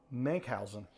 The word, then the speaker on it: Menkhausen: Menkhausen.